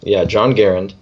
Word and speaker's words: Garand: It was designed by, oh, how do you pronounce his name? I just saw it too. John Garand. So it's John Garand.